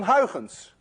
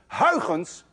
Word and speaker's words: Huygens: You see, this sound, UY, is pronounced in Dutch as ui. None of you can say ui unless you're Dutch.